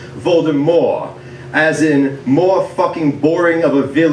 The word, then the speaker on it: Voldemort: that your name was supposed to be pronounced with a silent t at the end like voldemort as in more [